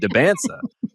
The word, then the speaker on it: Dybantsa: like, he liked that you knew how to pronounce the name right. Like he he really appreciated that I said Dybantsa.